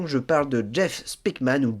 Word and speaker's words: Speakman: je parle de Jeff spikman ou Jeff spckman voilà on a plusieurs prononciations j' dit spman moi que spman bah alors c'est ouais bah donc spman on va rester sur spikman mon cher Seb peux-tu